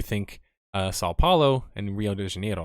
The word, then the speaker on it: Rio de Janeiro: uh sao paulo and rio de janeiro or hilo de genero as they pronounce it but brasilia is actually